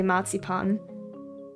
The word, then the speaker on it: marzipan: In in German, you definitely say matsipan. But I remember when I was younger and I ate one of those marzipan pigs.